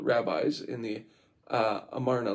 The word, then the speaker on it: Amarna: Though they regarded their offices as hereditary and sometimes styled themselves kings, in the Amarna, I'm saying it wrong, Amarna letters, we find these men